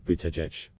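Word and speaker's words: Buttigieg: campaign made posters chants and t-shirts with the pronunciation bootech even democratic presidential nominee joe biden slipped up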